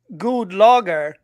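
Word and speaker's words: God Lager: fancy it does it's it's pronounced good logger but it's spelled God logger which is kind of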